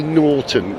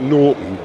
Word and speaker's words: Norton: Have you noticed how I say Norton, not Norton, which is what I used to say. Got to pronounce the T right.